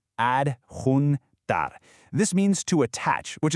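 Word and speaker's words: adjuntar: Let's get that pronunciation right. Ad hunar.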